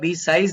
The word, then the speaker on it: besieged: For the past few days, I had been pleasantly besieged. इसका pronunciation होता है besieged नहीं, besieged. Besieged by, right?